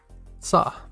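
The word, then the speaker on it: さ: if you look at it the right way pronounced sah back to the column we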